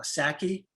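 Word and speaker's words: Psaki: when i see jen i believe you pronounce it uh saki the the white house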